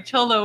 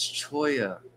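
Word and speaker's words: cholla: Chola Wood. No, what did you say? What? It's Choya.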